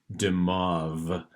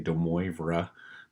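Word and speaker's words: de Moivre: use this theorem the the how to say it is damoff and i know it doesn't sound that way the way that it's written because you might want to try to say demora but that's not what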